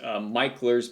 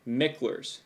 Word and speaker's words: Micklers: I learned how to read and write, and he's sitting there telling me it's Michler's, and I'm like, there's no E in there. It's Mickler's.